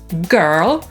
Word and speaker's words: girl: „słowo”, czyli „word” /wɜːd/ lub /wɜ:rd/, „pierwszy” – „first” /fɜːst/ lub /fɜ:rst/, „dziewczyna” — „girl” /ɡɜːl/ lub /gɜ:rl/, „świat”, czyli „world” /wɜːld/ lub /wɜ:rld/, „Ziemia” to „Earth” /ɜːθ/ lub /ɜ:rθ/ i „urodziny” — „birthday” /ˈbɜːθdeɪ/ lub /ˈbɜ:rθdeɪ/.